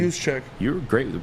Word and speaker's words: Juszczyk: Juszczyk. You're great with the pronunciation, by the way, my friend.